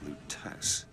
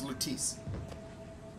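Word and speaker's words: Lutece: Lutess. Lutess. Okay, that's how you pronounce it. Thought it was Lutice.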